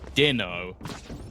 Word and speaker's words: Dino: So I've now got a message from Lothar saying it's actually Dino, and we said it wrong again.